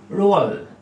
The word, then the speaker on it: Roald: So what's the correct pronunciation? It's your Roald.